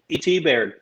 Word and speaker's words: Baird: Is it Baird or Bard or how do you pronounce his last name? E.T. Baird.